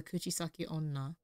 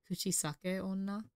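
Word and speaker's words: Kuchisake-onna: urban legend of the kuchis Sak Ona oh I pronounced that weirdly very American kuchisake Ona television reports of spoon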